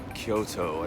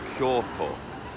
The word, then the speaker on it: Kyoto: It is 7 Kyoto. I don't know why I pronounce it like that. It's Kyoto. Kyoto. Good morning, Kyoto.